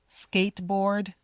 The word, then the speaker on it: skateboard: You don't need to say the t. skateboard or the d. Skateboard.